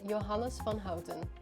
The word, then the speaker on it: Johannes van Houten: 1828 a man by the name of conrad johannes van houten or as asha correctly pronounces it johannes von hauten thank you created the first cocoa powder producing